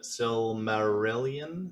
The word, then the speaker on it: Silmarillion: I've never read the Silmarillion. How do you pronounce that?